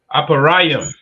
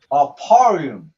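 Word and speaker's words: אֶפְרַיִם: How do you say Ephraim in the Hebrew? You can call it out Aparayim. Aparium, right? Which is A Pa Ra Yum.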